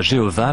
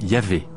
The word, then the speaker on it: Yahvé: En hébreu, le nom de Dieu s'écrit YHVH, ce qui ne se prononçait probablement pas Jéhovah, mais Yahvé.